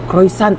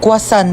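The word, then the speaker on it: croissant: Croyant daw. Croisant. Ah quasant po.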